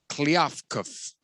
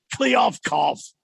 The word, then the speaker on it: Kliavkoff: It's Commissioner George Kliavkov. Oh, crap. Can't even say his name. Yeah, I don't know. Kliavkov. It's Kliavkoff. Kliavkov.